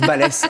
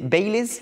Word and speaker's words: Balès: Vous pouvez prononcer balèze si vous avez envie, mais ça se prononce balèze en vrai. Mais si vous avez envie, voilà, c'est mon petit flex aussi. Je dis d'accord, j'accepterai. Si c'est Baileys, par contre, ça me plaira Ah, pas.